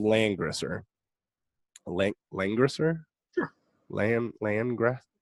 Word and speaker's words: Langrisser: LG. Yo, you been playing LG? What do you mean? Langrisser? That's not how you say it.